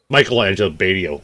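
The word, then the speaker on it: Michelangelo Batio: Um um Michelangelo Bado, right?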